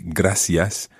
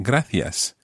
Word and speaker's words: gracias: For example, with gracias in most of mainland Spain and gracias in Canarias. So, for example, exactly the same as in most parts of Latin America, you would say gracias and not gracias.